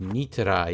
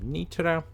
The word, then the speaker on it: Nitra: Or Nitra, more rather, Nitra. But I suppose in Hungarian it's going to be spelled or pronounced a little bit differently, so it's, well, it's Nitra in Slovak, isn't it?